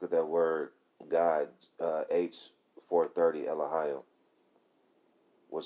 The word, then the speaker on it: Elohim: Now, how you pronounce that is Elohim, okay?